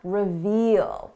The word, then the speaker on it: reveal: This is a short sound, revel. Long sound, reveal.